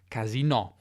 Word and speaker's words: casinò: and even gaming) and then returned to Italian pronounced in the French manner (casinò), maintaining however only the meaning of place where you gamble.